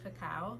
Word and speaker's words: cacao: not cocoa, it's cacao, and that is the 100% pure form of what we know as chocolate, or the tree where chocolate comes from.